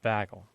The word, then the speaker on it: bagel: of this word because there is a part of the country does does not say bagel okay they say bagle so and it's not bagle like an exaggerated a but it's bagle well